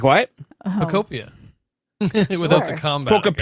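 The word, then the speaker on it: Pokopia: It's Pocopia. I'm saying it correctly. It's like It's like Poképia. It It rhymes with utopia.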